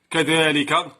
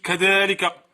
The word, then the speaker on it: كذلك: كما هو الشأن بالنسبة لكلمة كذلك، كتبت بشكل خاطئ. إذن إذا اتصل اسم الإشارة بلام البعد تحذف الألف كتابة أي رسما وتثبت نطقا.